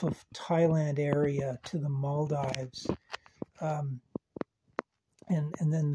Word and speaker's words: Maldives: um and and then the Mal Dives I think it's actually moldes I I watched a video and somebody was referring to it I think as the mold so maybe I've been saying it wrong all these times um